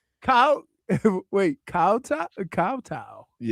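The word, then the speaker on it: kowtow: Kattow. It's cowtow.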